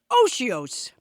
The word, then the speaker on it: otiose: I never knew how to pronounce that word. I thought it was I odious. have to tell you, it can be odiose. It can be odious.